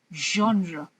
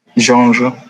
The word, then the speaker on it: genre: it's giving you a j sound which is genre genre yeah perfect okay so your pronouncing it perfectly it's genre so I'm asking